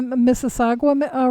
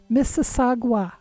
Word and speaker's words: Mississauga: So do we have the Mississauga rattler, and then what other one?